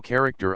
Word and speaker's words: character: point 73 look thou character I.E a word often used by Shakespeare to signify to WR strongly infix the accent is on the second syllable I point 70 4